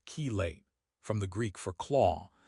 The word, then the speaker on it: chelate: The term chilate pronounced chelate from the Greek for claw is also used to describe this type of interaction.